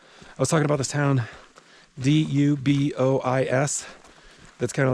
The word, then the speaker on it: Dubois: Dubois is the local pronunciation.